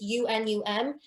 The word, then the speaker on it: Unum: so i use both i think it's pronounced as unum it's unum and preview so those